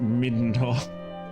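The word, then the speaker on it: Midenhall: I'm sure they intended the kingdom's name to be pronounced Middenhall.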